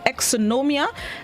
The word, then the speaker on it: exonumia: of the day it's spelled e-x-o-n-u-m-i-a and it's pronounced exonomia and it is a plural known which means